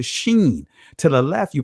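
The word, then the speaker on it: שׁ: In the Israeli language, depending on the mark, if the mark is to the right of the letter, top right of the letter, you pronounce it as the sheen.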